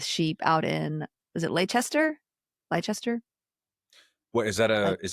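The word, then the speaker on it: Leicester: out in is it Lchester? Lchester. What is that? Is that in the United Kingdom? Yeah, Lchester. I think it's pronounced Lester.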